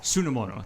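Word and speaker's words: sunomono: I've Am I saying that right? Sonomao saladsamono. Sonamono. That's it. Extra syllable in there I was missing.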